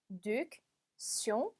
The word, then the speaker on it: réduction: 자, 발음이 조금 어렵습니다. 끊어서 읽어볼게요. réduction 붙여서 réduction 이렇게 읽어주시면 되겠습니다.